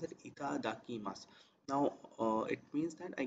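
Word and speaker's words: いただきます: So before starting the food, we always call, we say that itadakimasu. It's pronounced as itadakimasu.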